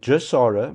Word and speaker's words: GESARA: And Jasara, which is spelled GESARA, stands for Global Economic Restructuring Act.